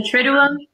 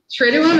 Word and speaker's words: Triduum: The Triduum? Yes. Yeah. Triduum, is that how you say it?